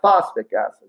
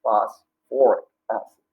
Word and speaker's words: phosphoric acid: You need that OR in there, all right, since there's phosphorus in there. So it's not phosphoric acid, it's phosphoric acid.